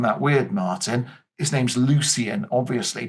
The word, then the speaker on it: Lucian: His name's Lucian, obviously. But in this point in time, they pronounce C's as hard K sounds, hence Kronos with his K.